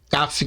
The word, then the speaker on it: Kaf: Podemos encontrar em outras fontes seu nome como sendo Kaf, Kaf com C ou com K, contudo a pronúncia correta é Kaf.